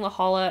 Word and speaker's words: La Jolla: because I kept saying La Jolla and I don't I knew in my head that's pronounced la jolla but it took me